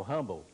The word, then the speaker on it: Hubble: Edwin Hubble, H-U-B-B-L-E, que aqui se pronuncia Hubble, foi o maior astrônomo do século XX.